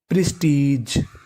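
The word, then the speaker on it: prestige: और आपको याद रखना है कि अगर आपको इंग्लिश की किसी भी मीनिंग के आखिरी में इ लिखा मिले तो हमें इ का उच्चारण नहीं करना। हमें खाली जी का उच्चारण करना है। तो मीनिंग बन गई प्रेस्टीज। प्रेस्टीज।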